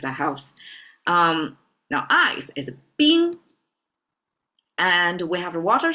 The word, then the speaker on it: 冰: Okay, let me pronounce it if you haven't remembered the pronunciation yet. 水, if that helps. Now ice is 冰, and we have the water sign, and then the two symbols.